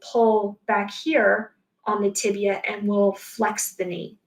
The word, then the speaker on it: tibia: don't pronounce this phibia it is fibula and tibia so be sure that you're pronouncing that correctly okay all right i think